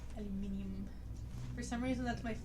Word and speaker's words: aluminium: concede against the mechanisms it makes more sense to pronounce it aluminium because that's the the suffix that's used most often for a metallic compound or not a compound